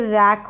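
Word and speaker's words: wreck: फिर रैक हो गया, डब्लू यहाँ पर क्या है साइलेंट है, डब्लू आर है ना साथ में, तो डब्लू तो साइलेंट है, आर का साउंड आ रहा है, आर का उच्चारण।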